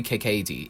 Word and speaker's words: Kakaty: Annie Kakaty, Kaykaty. It's really Kakaty.